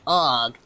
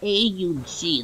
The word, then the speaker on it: AUG: Maybe he was a psycho, I'm not too sure, but he was like, actually, it's not the AUG, it's the AUG. That's actually how you say it.